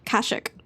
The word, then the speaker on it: Kashyyyk: star wars nerd okay everybody was giving me for saying kashyyyk wrong but the i guess i think this video game was the first time they pronounce the planets um like like verbally and